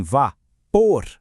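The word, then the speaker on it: vapor: Pensa só, em vá, por, a força está lá no fim.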